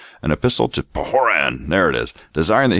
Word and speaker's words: Pahoran: drink that he immediately sent an epistle to pahoran Desiring oh sorry I didn't pronounce that right an epistle to pan there it is Desiring that he should cause